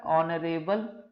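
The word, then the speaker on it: honourable: अच्छा, जब यहां पर लिखेंगे ऑनरेबल पर्सनैलिटी, तो यहां पर एच से शुरू हो रहा है पर इसका प्रोनाउंसिएशन कैसा है, ऑनरेबल, तो वो हिंदी का क्या होता है, स्वर काउंट होता है, और चूंकि ये स्वर है इसलिए क्या आएगा, एन।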